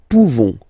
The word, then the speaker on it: pouvons: Nous pouvons. Nous pouvons. Okay? You don't pronounce the final S.